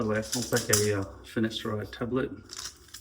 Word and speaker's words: finasteride: way, I'll take a finasteride tablet. Finasteride, not finasteride, I've been saying it wrong all these years.